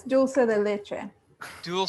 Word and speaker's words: dulce de leche: happen wait what albertina did i say it wrong yeah it's dulce de leche do you will say